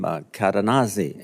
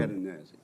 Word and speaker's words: Cadenazzi: The um the way I uh understood how to pronounce the witness's name was he he said it rhymes with snazzy.